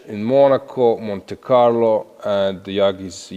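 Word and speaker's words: Yağız: Monte Carlo and Yagis is how they say Turkish advised me to pronounce it is doing really fabulous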